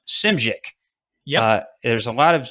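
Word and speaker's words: Szymczyk: uh bill schmidt i believe it's called it's pronounced simschick yeah there's a lot of there's a lot of z's and a lot of y's in that s-z-y-m-c-z-y-k simchick and uh so he comes in and so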